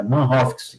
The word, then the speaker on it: Manhoef: Melvin Manhoff, né? É Melvin Manhoff, né, é Manhoff que pronuncia, né?